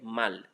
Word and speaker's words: mal: Mon nez fait mal. And when you look at the mal, that's one of the exceptions I told you 90%. Mon nez fait mal. That one has the last consonant pronounced. Okay.